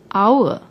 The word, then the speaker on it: hour: starts with H but when we pronounce the word the H is silent we pronounce it as if it begins with the second letter the vowel o our so we use an